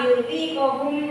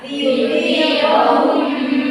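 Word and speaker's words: ليذيقهم: Tadi ada yang sekilas salah, liyudhiqahum ba'da. Yang benar adalah liyudhiqahum ba'da.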